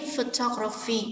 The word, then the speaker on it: photography: Đuôi y thì lùi về đó 3 âm tiết: photography, trọng âm số 2.